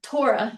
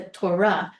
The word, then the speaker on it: Torah: Um, also the accent is likely on the the last syllable. Um, so tora yada. So a lot of people will say uh that people read the Torah. It's not the Torah. You're not spitting it out. It's the Torah.